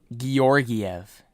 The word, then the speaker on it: Georgiev: Georgiev is how you pronounce it, actually.